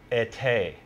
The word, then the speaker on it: été: And she said, it's pronounced été.